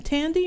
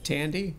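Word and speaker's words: Thandie: Is her name Tandy or Thandy? Newton. Well, I don't know. I don't know. Sometimes the H is silent, sometimes not so much. So, but she was Thandy.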